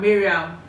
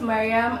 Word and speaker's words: Mariam: So for both of you that pronounce Mariam, Miriam, she's here to correct you. Please have the floor. Okay, my name is Mariam.